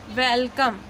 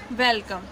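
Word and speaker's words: welcome: Rules follow होगा कि अगर ई के बाद आपका 2 कॉन्सोनेंट के बाद वोवेल आता है कोई, तो वहाँ पे आप ई का प्रोनाउंसिएशन ए करेंगे। तो इसलिए हम इसको क्या पढ़ते हैं, वेलकम।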